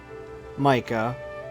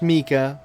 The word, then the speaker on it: Mika: off a new character we unlocked which was Micah again game it's pronounced Mika but we're saying Micah and yeah okay that's